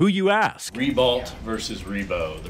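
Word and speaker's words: Ribault: Read that for me. Ree-beau Monument. Ree-beau? Not Ree-balt. Ree-beau.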